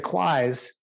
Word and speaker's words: QWISE: But the QUIs, which is a good shorthand for the 3 bad acronyms, and it's good, it's decent because it rhymes with why.